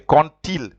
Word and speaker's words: quand il: That's why you will say quand-il, and then when you join the d with the il, it sounds like a t.